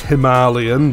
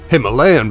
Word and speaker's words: Himalayan: Now, I know it's supposed to be pronounced Himalayan, but I've always known it as the Himalayan because I'm from East Yorkshire and that's how we pronounce it.